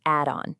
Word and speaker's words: add-on: And just so you know, it's pronounced add-on. You know, like an addition to your home.